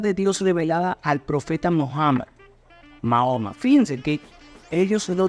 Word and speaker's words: Muhammad: Entonces, el profeta Mahoma, o Muhammad, como se pronuncia correctamente, fue quien fundó el Islam.